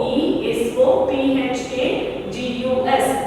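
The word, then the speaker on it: oesophagus: This we can say it as esophagus. Okay, esophagus, esophagus. Okay, see the spelling, esophagus. O is silent here. O E S O P H A G U S.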